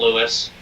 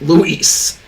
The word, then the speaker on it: Luis: name correctly this time it's not Lewis r-o-g-r-e for Leon it's Luis Sarah now I'm just